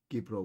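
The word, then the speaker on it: Κύπρος: Gipro, we say.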